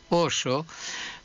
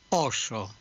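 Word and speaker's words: óso: El oso es el paquidermo, el animal, y no lleva ningún tilde y se pronuncia en gallego igual que en castellano, oso, pero el hueso en gallego es oso, oso.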